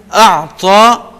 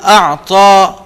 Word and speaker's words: أَعْطَى: فَأَمَّا مَنْ أَعْطَى وَاتَّقَى، فَأَمَّا مَنْ أَعْطَى وَاتَّقَى. اعطا عین اور تا کو انڈر لائن کریں گے، اور یہاں پر واتقى قاف کو انڈر لائن کریں گے، اور ان کا ہم نے تلفظ درست کرنا ہے.